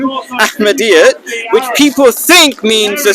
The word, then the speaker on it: Ahmadiyya: So that's what the real meaning of Ahmadiyyat is. And it's only a temporary name until we become like the main form of Islam. What's the correct pronunciation? Ahmadiyya. Ahmadiyyat, yeah, Ahmadiyyat, yeah.